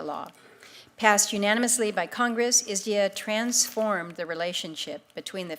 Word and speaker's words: ISDEAA: I call it ISDA. Does anybody else call it ISDA? There's been such debate about the correct pronunciation. So as a committee, I would like us to agree on just calling it isdia.